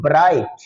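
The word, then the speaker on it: bright: ऐसे अगर हम दूसरा एक लफ्ज देखते हैं सेकंड नंबर पर, तो ब्राइट, ब्राइट। तो ब्राइट में भी जी की आवाज, तो जी साइलेंट है।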